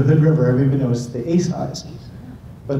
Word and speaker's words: Asai: pronounce the family name Asai, and that's, if you go to Hood River, everybody knows the Asais. But the proper Japanese pronunciation of the name is Asai, and I would say